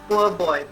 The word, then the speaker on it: po' boy: You have po' boy, it's pronounced as poor boy.